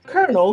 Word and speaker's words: colonel: Anyway, c o l o n e pronounced colonel because we took the Italian spelling and the French pronunciation and just ran with it.